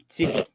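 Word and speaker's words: Syfy: Now they're called Sci-Fi. Siffy. Oh jeez. Well, that's how it's spelled. S-Y-F-Y, Sci-Fi.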